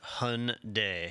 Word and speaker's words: Hyundai: According to the internet, it is pronounced Hyundai. Hyundai.